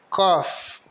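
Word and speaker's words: coffee: o pela então café cof o c com o som de k o o de o o f de f e os dois s com o som de i então café cof bom então nesta videoaula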